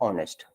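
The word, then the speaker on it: honest: Like देखो, अगर लिखा गया है ऑनेस्ट, तो ऑनेस्ट से पहले क्या होगा? अ से प्रोनाउंस हो रहा है, आ से हो रहा है ना, तो इसके पहले क्या होता है?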